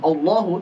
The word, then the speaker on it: Allahu: Allahu, o, bukan o, tapi a. Ini saat hamzah wasal ya, di awal hamzahnya fathah, a. Allahu, Allahu, bukan Allahu, tapi Allahu.